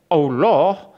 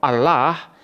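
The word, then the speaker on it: الله: Allah in Arabic is pronounced as Allah or Allah depending on the sentence that it is used in. In Arabic, the sound of the word Allah could be thicker, Allah, or thinner, Allah, depending on the sentence.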